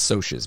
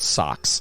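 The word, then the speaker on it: Socs: So basically, yeah, there's the socias, and it's socias, by the way. I don't know why it's spelled socks. I said socks.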